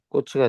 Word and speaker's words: 꽃이: 자, 예를 들면 뭐냐면 꽃이는 발음이 꼬치가 됩니다.